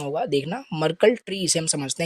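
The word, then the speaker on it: Merkle: तो इसका क्या प्रोनाउंसिएशन होगा देखना। मरकल ट्री इसे हम समझते हैं क्या होता है?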